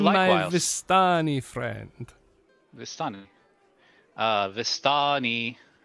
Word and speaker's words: Vistani: vistani friend the sun vastani is that how you say it yes that is it it's it doesn't really